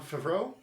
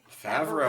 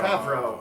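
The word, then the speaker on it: Favreau: Uh show run by John John Favo. Favro. Favro. I I've not once pronounced that correctly.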